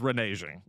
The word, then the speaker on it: reneging: Do you want to get We Alex, if I say that with a hard G, the show's over.